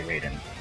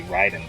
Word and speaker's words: Raiden: where they changed the spelling to match the pronunciation you know I always used to say Raiden probably because of that like I mean it took me forever to say Ryden correctly when I played middle Gear Solid 2